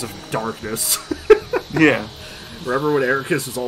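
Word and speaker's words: Eraqus: way I love that the game and blink myself have pronounced it multiple times as air kiss and you keep pronouncing it as Eric please oh no Eric quest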